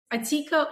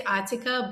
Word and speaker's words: Atika: So it so it's Atika or Atika. You can pronounce it either way. I say Atika, but you know my first language is Russian.